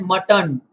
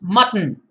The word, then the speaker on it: mutton: a mutton chop guys do not pronounce this word as mutton it's mutton like button mutton it's always like that and uh this is